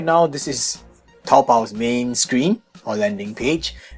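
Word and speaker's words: 淘宝: Now if you do not know Chinese language, then you would just pronounce it the way Coop does, which is like Taobao. But this is being a Chinese site, it's Taobao, okay?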